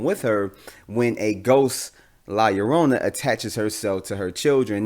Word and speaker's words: La Llorona: the curse of la yorona which i am pretty sure i'm pronouncing it right is a light connection to